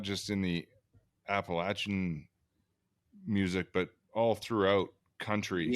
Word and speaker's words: Appalachian: like that you know Appalachian did I say it right yes you did I think you got it Appalachians just think Appalachia coming at you Appalachia